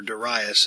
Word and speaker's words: Darius: So Cyrus does most of the conquering, but it's Darius, his son, who, or Darius as some people pronounce it, who ends up being the greatest king that the Persians had.